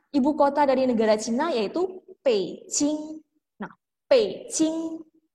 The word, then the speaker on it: Beijing: pe sing nope sing mungkin teman-teman merasa bingung ya bukannya tulisannya tuh Beijing bukan harusnya bacanya Beijing ya Nah iya walaupun di pingin atau penulis hanya itu Beijing pakai JNE tetapi dibacanya adalah pssing P singa ibukota negara